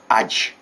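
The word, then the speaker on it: adze: a hole but it's a Spanish Spanish slot Edge as a d z e pronounced in Sheffield and this and this is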